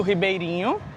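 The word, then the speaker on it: Ribeiriño: E o nome da ponte é Ponte do Ribeirinho, que a pronúncia é igual a nossa, mas se escreve com um N e um tio, né?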